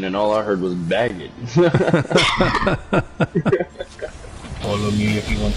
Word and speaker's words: Brigitte: I think you pronounce it Brigitte. It's baguette. Baguette? It's baguette. Baguette as in French baguette?